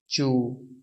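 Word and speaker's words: 住: यहाँ पे देखिए ZHU चे की आवाज़ दे रहा है और यू की आवाज़ यू ही है, तो यहाँ पे इसकी प्रोनाउंसिएशन, इसका साउंड होगा चू, लेकिन यू के ऊपर फोर्थ टून है।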